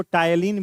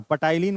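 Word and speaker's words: ptyalin: और इसी salivary amylase को टायलिन भी कहते हैं। क्या कहते हैं? टायलिन। पी साइलेंट है वहां, पटाइलिन मत पढ़िएगा।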